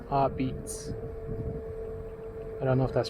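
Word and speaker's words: apizza: But it's actually pronounced Abitz. Abitz.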